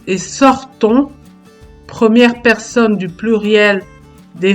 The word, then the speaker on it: sortons: Dans les mots avons et sortons, première personne du pluriel des verbes avoir et sortir au présent de l'indicatif, le son on s'écrit ONS, mais on ne prononce pas la lettre S.